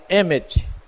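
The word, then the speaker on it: אמת: se pronuncia Emet, que é o Aleph, que é a primeira letra, o Mem, que é a letra intermediária, e o Taf, que é a última letra.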